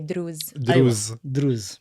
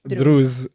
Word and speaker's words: Druze: Maybe we should pronounce it the Arab way, Druze. Druze.